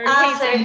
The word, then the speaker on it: HACE: for Career Enhancement, or we say ACE if we pronounce it in Spanish, or HACE, but traditionally ACE, right?